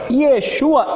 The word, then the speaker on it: Yeshua: Yeshua é bem simplesinho assim, Yeshua.